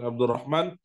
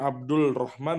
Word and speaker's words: Abdurrahman: Makanya kalau misalnya ada namanya contoh Abdurrahman, pengucapannya Abdul Rahman boleh nggak? Ya, secara penulisan bahasa Indonesia boleh-boleh saja. Tapi kalau secara kaidah daripada penulisan bahasa Arab dan baca bahasa Arab itu tidak diperkenankan, bukan tidak diperkenankan, maksudnya tidak sesuai.